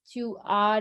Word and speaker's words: tu as: Even if the pronunciation is a, don't just write an A.